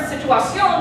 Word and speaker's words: situación: have been here, but when native speakers pronounce the word situación, the tonic syllable ends up here.